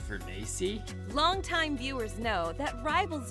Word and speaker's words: Furness: I'm here with my co-host, none other than the head of Ether Studios himself, Furness. It's actually pronounced Furnacy.